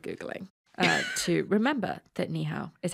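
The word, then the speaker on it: 你好: the same in madid oh there you go niho welcome to red-handed only took us 10 minutes only took us 10 minutes of Googling uh to remember that niow is how you say hello so hello hello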